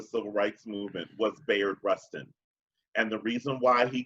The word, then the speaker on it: Rustin: as in David and then Rustin the word the words rust and in Rustin okay thing people people credit dr.